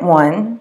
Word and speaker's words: au: what goes in front of those kinds of nouns. When you have a and le next to each other, they form a contraction, and it becomes A-U, pronounced O.